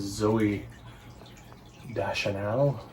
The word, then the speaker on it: Zooey Deschanel: him christmas that is zoe da chanel that's how you pronounce it there she is she